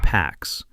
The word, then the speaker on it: P4X: He chooses the name P4X, pronounced PAX, a subtle nod to enforcing peace through punishment.